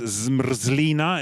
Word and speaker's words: zmrzlina: The pronunciation dictionary says zmrzlina. Is that anywhere near? Okay, so everyone, zmrzlina.